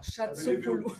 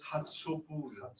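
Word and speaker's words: Chatzopoulou: her name is pronounced Hatsupulu. Hatsupulu. It is? This CH is the he of the Greek, is the Greek letter he. Okay. So it's Hatsupulu. It's like the H in German.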